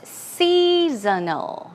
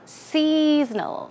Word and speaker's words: seasonal: it's related to a specific season here the pronunciation is seasonal seasonal seasonal it's more like snow snow seasonal okay